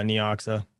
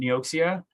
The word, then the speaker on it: Neoxa: going to have uh neoxa a little bit of that i see i knew i was saying it wrong you know how many people call me out for saying nioxia it's like what's wrong